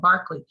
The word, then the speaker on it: Berkeley: It's not Berkeley like the university, but Berkeley said thoughts are different things than things.